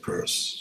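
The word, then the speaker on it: Peirce: okay not not peers people often say Pierce but he pronounced it purse okay it's one of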